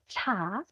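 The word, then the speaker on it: ㅊ: Ada ciet, ini dibacanya ca.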